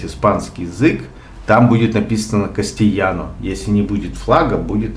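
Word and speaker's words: castellano: Внутри Испании испанский язык называется кастильяно, а пишется буква «Е» в испанском языке формируется 2 буквами «Л». То есть 2 буквы «Л» это «Е».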